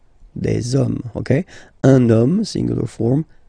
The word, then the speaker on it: hommes: You don't pronounce it, so you get des hommes, okay.